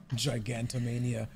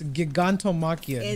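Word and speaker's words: Gigantomachia: than katos at least they would die instantly giganto Mania why has that name they said they said giganto Makia but ganto if you saying it wrong when they spell it it's giganto Makia giganto ganto Mania that is his name say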